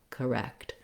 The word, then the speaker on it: correct: syllable stress but rather i'm going to use more of an uh sound correct one way to correct